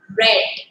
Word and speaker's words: read: past becomes a d the spelling remains the same but the pronunciation changes it begins it becomes red see i told you